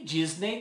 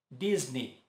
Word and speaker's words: Disney: E Disney também não é Disney, e sim Disney, Disney.